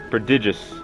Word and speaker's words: prodigious: It's Prodigy, but with digious at the end. Prodigious.